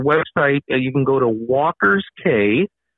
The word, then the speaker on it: Walker's Cay: Well, if anyone is interested, our website, you can go to Walker's K, and K is spelled with a C. It's C-A-Y, walkersk.ca.